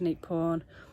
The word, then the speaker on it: Neak Pean: Welcome to Neak Pean, or Neak Pean as the Cambodians pronounce it, and this is possibly the smallest but one of the most beautiful temples in Angkor Archaeological Park.